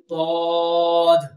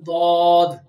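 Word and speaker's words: ضاد: Arabic alphabets, that is Dad. How to pronounce letter Dad? When upturned side edges of the tongue touches to the edges of the upper grinder teeth, then it will pronounce letter Dad as shown.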